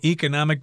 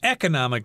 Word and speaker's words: economic: advantage it has an economic benefit or economic benefit you can pronounce it either way a circular cover requires